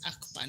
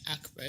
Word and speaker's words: Akbar: I've been told the name is pronounced as Akbar, not Akbar.